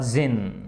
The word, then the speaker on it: djinn: presently there came along the जिन, है ना, जिन, जिन का मतलब होता है, आपने देखो ये DJINN है ना, इसमें डी साइलेंट है, ये जिन, जिन जो